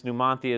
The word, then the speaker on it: Numanthia: honor the town but if you apply the the dialect and Spanish and how numia would be pronounced is numanthia right so hence numanthia is the name of